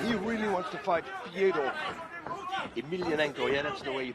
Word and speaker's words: Fyodor Emelianenko: Yeah, he really wants to fight Fyodor Emelianenko. Yeah, that's the way you pronounce it.